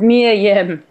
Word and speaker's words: Mia Yim: It's Mia Yim.